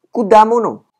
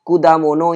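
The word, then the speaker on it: 果物: berikutnya adalah kata yaitu kuda mono kuda mono ini agak spesial ya cara bacanya karena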